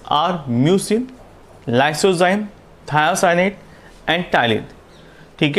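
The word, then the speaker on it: ptyalin: The main contents are first है mucin, उसके बाद lysozyme, then after thiocyanate, and last में आएगा टाइलिन जो कि एक एंजाइम है. यहाँ पर पी साइलेंट है.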